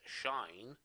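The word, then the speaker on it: sinh: two hyperbolic functions the hyperbolic sine or general pronounced as shine okay and hyperbolic cosine which are going to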